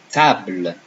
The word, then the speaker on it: table: You will notice that when I said table, I didn't pronounce the E. Okay, now I'll always say the letters in French. Table, I didn't pronounce the E, but it's exactly the same as in English. Table, don't pronounce the last letter.